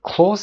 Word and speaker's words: close: و close it gently اینجا به فعل close داریم، یادتون باشه اینجا ز تلفظ بکنیم.